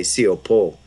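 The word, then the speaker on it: σιωπῶ: So siopao, it's an alpha contract. We had another alpha contract, which was epitimao. So this one is siopao. So you wouldn't pronounce it that way because it's contracted. So you would say siopo.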